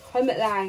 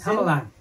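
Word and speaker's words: Helmut Lang: Hermit Lang, I always say his name wrong, don't at me. Helmet. Just keep going. Helmet? Just keep going, Toots. Helmet. Say it. Helmet Lang.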